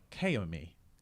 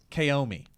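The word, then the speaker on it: caoimh: I'm gonna say is ko me we should you spell it first so that I'm gonna say it first ko me okay ko me like Naomi that's what I'm gonna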